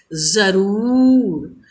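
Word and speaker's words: ज़रूर: देखिए यहाँ भी नुक्ता वाला शब्द है, मैम ने कैसे उच्चारण किया? जरूर।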